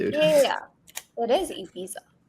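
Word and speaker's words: Ibiza: This is a I don't know how else we're supposed to pronounce it, dude. Yeah. Yeah. It is ebiza.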